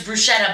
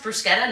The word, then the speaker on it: bruschetta: And then Wesley Matthews is like, guys, I think it's pronounced bruschetta, not bruschetta. What do you think? LaMarcus Aldridge. LaMarcus Aldridge is like, God damn it, I have to do everything for this team. I score all the points. I gotta tell you how to pronounce bruschetta, and it is pronounced bruschetta, and I know that because I'm minoring in Italian.